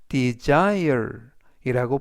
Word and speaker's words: desire: 아의 강세가 있습니다 그리고 S 이번 단어에서 스가 아니라 즈 그래서 desire이라고 발음하시면 좋겠고요 품사는 동사